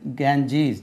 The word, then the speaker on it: Ganges: தி கேஞ்சீஸ், தி கங்கா கிடையாது, கேஞ்சீஸ், GANGES, கேஞ்சீஸ். Canal, the Suez Canal, the Suez, SUEZ, Suez Canal, CANAL, canal.